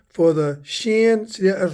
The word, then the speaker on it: shin: The W character is pronounced shin.